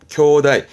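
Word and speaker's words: 兄弟: 쿄다이. 그런데요. 형제 부분을 형자는 기본은 케로 읽히고 제자는 테로 읽혀서 케테라고 읽기도 합니다만은 요런 부분은 거의 요즘은 쓰이질 않고 전부 다 형제는 쿄다이로 꼭 기억해 두시는 부분인데요.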